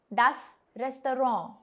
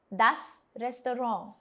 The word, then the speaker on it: das Restaurant: Das Restaurant, which means the restaurant. The word is originally French, but it slightly changes in its pronunciation when we say it in English.